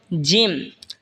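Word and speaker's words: ج: এরপর এটা হলো জিম। জিম জিহ্বার মধ্যখান তার বরাবর ওপরে তালের সঙ্গে লাগা উচ্চারণ হবে জিম।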